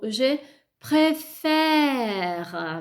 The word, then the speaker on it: préfère: Io dico je préfère, vedete che préfère ho due diverse. La prima è chiusa, quindi ha un accento acuto, aigu, e l'altra dico pré.